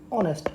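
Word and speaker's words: honest: था जैसे for example यहां लिखा था ऑनेस्ट तो ऑनेस्ट में ओ का साउंड ए रहा था तो यह क्या है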